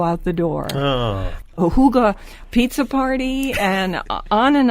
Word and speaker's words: hygge: it's spelled h y g g but you pronounce it um in the language Huga you know h o o g h Huga like that gunar will you pronounce it for